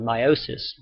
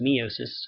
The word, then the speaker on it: meiosis: more in Chapter 13 called meiosis sometimes pronounced meosis and I'll tell you why